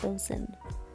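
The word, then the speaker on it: boatswain: is written as boat swing but it is pronounced boson uh we come over here and then we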